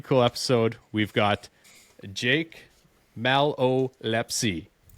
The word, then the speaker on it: Malolepzy: I had it written down here with the little hyphen so I knew knew how to say it. You obviously say it a little bit quicker, but no, this is a pretty cool episode.